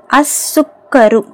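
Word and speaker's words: السكر: எழுத்து அத்தாலிபு okay next அசுக்கரு அசுக்கரு இது என்னது சீனு நம்ம வந்து இது வந்து ஷம்சியோட எழுத்து சொல்லாம் உச்சரிக்கப்படல அசுக்கரு ஓகேங்களா நெக்ஸ்ட் அத தப்தரு அத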